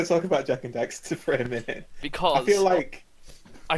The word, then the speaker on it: Daxter: No, I was going to talk about Jack and Daxter for a minute. Because I feel like that generation of Crash Bandicoot, Jack and Daxter, Ratchet and Clank. yeah. It is Daxter, not Dexter.